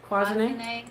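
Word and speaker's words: cloisonné: cloisonne.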